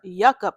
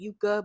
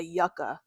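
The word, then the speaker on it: Yucca: Okay, so next I have her Yucka palette. I was saying it wrong when I first got it because I kept saying Yuka, but I guess people were saying no, it's the Yucka palette, which don't sound right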